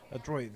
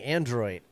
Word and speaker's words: Adroit: He was the one that told us how to pronounce that correctly, because I kept saying Android, but he said there's no N. It's Adroit. Adroit.